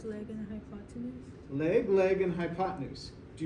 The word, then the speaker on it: hypotenuse: do you know the name of this one it's hypo 10 use is the way it's spelled but you say it hypotenuse everybody say hypotenuse okay